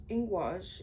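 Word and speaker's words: Ingwaz: Ingus, pronounced Ingwas, is a powerful rune of manifestation and expression of the moment of powerful centering before the manifestation is invoked.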